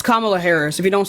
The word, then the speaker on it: Kamala Harris: It's Kamala Harris.